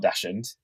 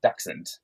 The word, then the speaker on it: dachshund: Um and I always thought I knew how to pronounce the word dachshund, but it's not dachshund, it's dachshund. Um as a kind of